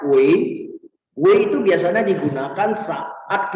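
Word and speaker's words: 喂: Yang I, nah kamu lihat yang itu dia bacanya Wei.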